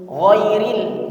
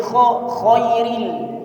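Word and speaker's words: غير: Ghairil jangan diganti jadi khairil, tapi ghairil. Nah, di sini banyak terjadi kesalahan, hadirin rahmati Allah.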